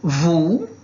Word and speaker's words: vous: E o S não pronuncia, a não ser quando a gente encontra ali um som de vogal, coisa assim, né?